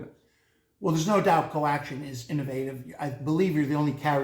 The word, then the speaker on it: Co/Action: action now two questions do you pronounce the for slash or say co- for slash action or do you ignore it and second is that supposed to be like a karate chop to the competition collection we'll chop you off we do not pronounce it but it is intended